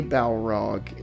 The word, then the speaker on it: Balrog: I think about the I'm going to say balrog am I saying it right yes bingo the balrog is not